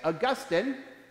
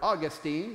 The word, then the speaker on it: Augustine: Christ please be seated St Augustine or Austine depending upon where you're from and your preference of pronunciation uh was one of